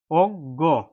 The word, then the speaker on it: অজ্ঞ: শব্দের শেষে আসে বন্ধুরা তখন এই যুক্তবর্ণটি দুইটি গ উচ্চারণ হবে অজ্ঞ অজ্ঞ স্বরে দৈর্ঘ্য ইয়